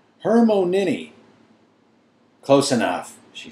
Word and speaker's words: Hermione: say her name properly he kept calling her herion her my owni she said slowly and clearly Hermon nin close enough she said